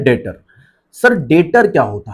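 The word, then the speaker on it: debtor: अब पढ़ते हैं डेटर। सर डेटर क्या होता है? डेटर्स में देखिए बी यहां पर जो है वो साइलेंट है। अब बी को साइलेंट कर आप पढ़िए तो आप पढ़ेंगे डेटर।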